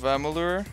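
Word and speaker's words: Amalur: lame i think i'm gonna play kingdom of ammolur that's how you pronounce it i tried to play dark souls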